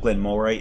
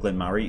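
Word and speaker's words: Glen Moray: Murray it looks like it looks like Glen more a mor a one on the on the bottle but Glen Murray is how it's pronounced and they used to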